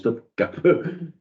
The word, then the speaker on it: Topkapı: Si un jour vous allez à Istanbul, si un jour vous allez à Istanbul, vous visiterez le palais de Topkapı, écrit Topkapi, ça se prononce Topkapı.